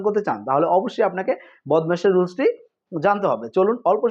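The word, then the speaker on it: BODMAS: গণিতের সহলঙ্ক ভালোভাবে সঠিকভাবে সুন্দরভাবে সমাধান করতে চান তাহলে অবশ্যই আপনাকে বদমাশের রুলসটি জানতে হবে। চলুন অল্প সময় বদমাশের রুলসটি জেনে নেয়া যাক। বদমাশ এর উচ্চারণ হবে বদমেশ।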